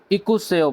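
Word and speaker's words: 읽어요: consonant होगा उसको पढ़ेंगे दूसरा जो कंसोनेंट है वो साइलेंट हो जाएगा तो खियो जो है वो तरतीब के लिहाज से रियोल से पहले आता है तो इसलिए यहां पे खियो की साउंड आएगी और रियोल जो है वो साइलेंट हो जाएगा तो इसीलिए हम इसको इक सेयो पढ़ेंगे इक सेयो इक सेयो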